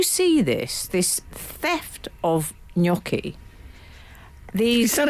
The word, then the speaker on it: gnocchi: Well, it's got that fine. silent G thing going on, hasn't it? I think Italians, I don't know, I'm sure if they're any Italian, but I've heard Italians would say gnocchi. Ah.